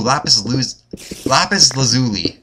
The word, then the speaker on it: lapis lazuli: Ooh, lapis lazuli. That's how you pronounce it.